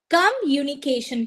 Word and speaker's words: communication: to pronounce it so what is the right pronunciation of this word is communication the stress over the M right communication communication uni part okay so uni exactly communication